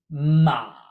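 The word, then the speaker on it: 马: character for horse pronounced ma na with a dipping tone exact same as mother but with a dipping tone this simply means horse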